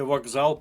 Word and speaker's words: вокзал: У слові вокзал пишемо К, а вимовляємо ґ.